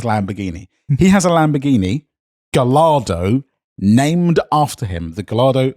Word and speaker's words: Gallardo: No, Gallardo.